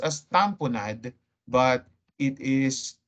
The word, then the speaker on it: tamponade: It's pronounced as tamponade, but it is spelled as tamponade, as in lemonade.